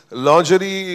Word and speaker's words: lingerie: Lingerie is mispronounced in this country. It is Braziers. It is lingerie.